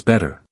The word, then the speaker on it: better: In American English, we often change the way we pronounce T when it appears between two vowels.